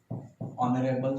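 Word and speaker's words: honourable: our, honest, honest man, ऑनरेबल CM, year, इसका मतलब होता है उत्तराधिकारी, इनमें क्या होता है कि इनका जो प्रोनाउंसिएशन होता है वो इस टाइप से होता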